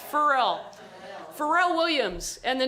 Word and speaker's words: Pharrell: of masterclass for uh i never say his name right farrell williams pharrell williams farrell i i just always look at the word feral pharrell pharrell williams and the